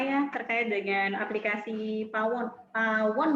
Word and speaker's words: Pawoon: Pawon ya bacanya ya, Pak Roland ya? Iya, betul sekali Ibu Tri, Pawon.